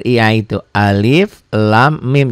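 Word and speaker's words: الم: r i a itu Alif Lam Mim enggak boleh Enggak boleh alamma orang kaget Aduh Quran kok beda ya orang bacanya baru orang malif Lamin ini Alama Oh ternyata dia dibaca jangan dibaca ini ya dibacanya dibaca seperti membaca ee ejaan gitu ya membaca huruf aslinya ini huruf-huruf muqata atauatus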